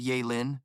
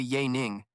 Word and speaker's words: Ya Ning: My name is actually Ya Ning, not Ya Lin.